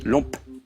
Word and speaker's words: lompe: Oui, les œufs de limpe ou de lompe. Oui, exactement. J'ai bien prononcé cette fois-ci. Oui. Ouais, parce qu'en fait, les deux se disent, en fait. Oui. Ça peut s'écrire L-U-M-P ou L-O-M-P-E.